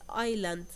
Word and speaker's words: island: the word that had the uh silent s is Island number two write three